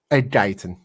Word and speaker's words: Guyton: Tyler, the pronunciation is Tyler Guyton or Tyler Guyton? Guyton.